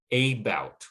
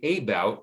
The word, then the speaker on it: about: say a tend attend same with a bout we don't say about but instead we say about so the second syllable is receiving the stress and it's getting that ow um that ow vowel which is a diphthong that moves in the mouth okay and the first syllable changes from a long a to the schwa about so that's a pattern